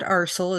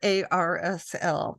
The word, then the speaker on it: ARSL: We've learned that it's not Arsel as we all pronounce it, but it's correctly called ARSL.